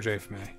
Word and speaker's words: Jafme: That's Jafme. Dude, the that's F is silent. Final entry, Warrior Jafme.